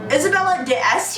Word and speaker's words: Isabella d'Este: himself in then while I'm talking about art Isabella d'Este yeah that's how you pronounce it who is super famous and she